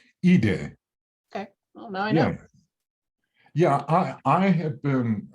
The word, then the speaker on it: Ide: joe i but it's e day e day yeah i i have been uh pronouncing joe's name i'd um but it's it's it is uh the the japanese pronunciation um and and if